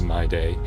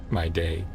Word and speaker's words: Mydei: pronouncing it like, again, kind of like my T, but instead of the harsh T, it was a D. So yeah, sort of my D. My day. My D. I was saying my day, I believe, but then,